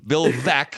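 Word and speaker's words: Bill Veeck: to pronounce correctly yes and and Bill ve Bill ve is how you pronounce it and they just Savaged him and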